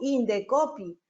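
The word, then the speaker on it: Indecopi: Igual sucede con Indecopy. Yo no digo INDSOPI, digo Indecopy.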